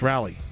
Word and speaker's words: Raleigh: Depends how you want to pronounce it, right? There's so many different people that say Raleigh and I'm like, really? Just Raleigh? No, it's Rally.